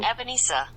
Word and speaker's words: Ebenezer: But, yes, that is the correct pronunciation, guys. There you go. Ebenezer.